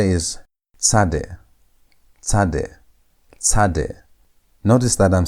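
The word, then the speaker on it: צדי: Sad has t sound as in the word hats. That t is where sad gets it sound. Or as in the word cat, that t ss sound is where sad gets its sound. Is how you pronounce the letter sad.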